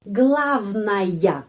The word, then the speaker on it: главная: Karena huruf ya itu setelah huruf vokal. Kalau huruf ya setelah huruf vokal, huruf ya pengucapannya benar ya. Sepertinya huruf ya dapat penekanan. Sama ya, kalau dapat penekanan tetap ya. Kalau sesudah huruf vokal tetap bunyinya ya.